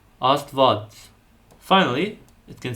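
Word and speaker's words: Աստված: But, if followed by a vowel, the Vo and Hyun letter combination will sound like a V. As in the word for God, Astvats.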